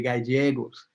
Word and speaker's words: Gallegos: mexico so they said they would say guy diego's and uh hide a little j in there a soft g and uh also my